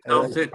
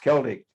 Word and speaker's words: Celtic: Celtic, okay. It's pronounced Celtic, even though it's CE, it's pronounced Celtic.